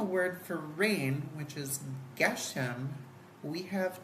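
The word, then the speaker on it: גשם: So the Gimel, and then you say the Ge, and then you see the Shin, and so it's sh, below it, and then the Mem sound at the end, so it's Geshem.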